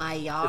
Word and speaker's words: Maillard: Is it Maillard? The Maillard reaction. Maillard. It's French.